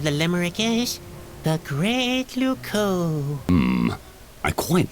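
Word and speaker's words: Loucaux: Luco doesn't really rhyme with Bordeaux. It's spelled completely differently. Really? Luco is spelled L-O-U-C-A-U-X.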